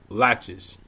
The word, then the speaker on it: laches: Affirmative defense of laches.